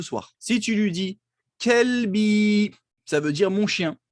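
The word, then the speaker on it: كلب: Kelbi, qalbi, qalbi, mon cœur. Kelbi, mon chien. C'est une différence, n'est-ce pas? Kelb, chien. Qalb, le cœur. Donc faites attention à bien prononcer.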